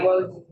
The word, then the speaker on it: Wogies: With the soft G, Wogies? It's soft G. Yeah, Wogies.